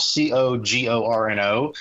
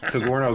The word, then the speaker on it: Cogorno: And, you know, so the Cogorno Golf, Cogorno, it's pronounced kind of like a DiGiorno pizza, but with a C. Cogorno Golf.